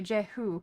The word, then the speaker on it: Jehu: It's probably Jehu, I guess, in English. Is the son of Jehoshaphat. Oh. Yeah, Jehu. Okay, Jehu. It's probably pronounced slightly different in Hebrew or whatever, but that's probably how the English speakers say it.